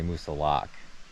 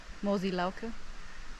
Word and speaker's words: Moosilauke: looked it up and i guess both way is acceptable but the most locals say musa lock because they're in the 1800s used to be called moose hillock or something like that yeah or pronounce it like the german moji loku don't do that don't do that but